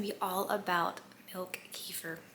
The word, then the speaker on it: kefir: Today's video is going to be all about milk kefir. Here in America we say kefir. I know it's technically pronounced kefir, but kefir, my children call it white kefir.